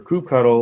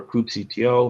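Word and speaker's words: kubectl: we're already authenticated for crew cuddle or coop cto however you want to pronounce it i can just go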